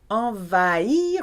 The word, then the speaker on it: envahir: Envahir with a silent H.